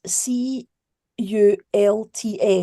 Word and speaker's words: Cults: It's spelled C U L TS.